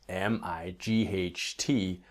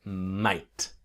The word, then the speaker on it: might: Now, might is interesting because we spell M-I-G-H-T, but really the G-H is silent. It's really like might, might.